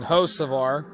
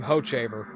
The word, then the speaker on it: Hocevar: Carson Hocevar. For some reason, I wanted to pronounce his name Hochevar. Kind of like the old Kansas City Royals pitcher, Luke Hochevar.